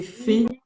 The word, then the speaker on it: Faye: Angélique, si tu peux remontrer le livre, c'est fait. C'est La prophétie de lumière, tome 1, Faye. Comment tu le prononces?